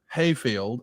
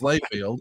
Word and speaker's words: Layfield: To be clear, you had just turned 31, and we know that your name is not Hayfield, it's Layfield.